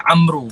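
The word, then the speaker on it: عمرو: Baik, tengok dalam peperangan ni, dalam perang Uhud, adik-beradik kepada Sa'ad bin Mu'az namanya Amru. Kalimah tu disebut Amr. Hanya sebutannya Amru.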